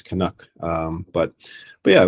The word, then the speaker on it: Canucks: a canu Canadian um I've heard some interesting pronunciations of it though kuk kuk and um the way it is pronounced is kanak so if anyone's listening they're not sure it's kanuck um but but yeah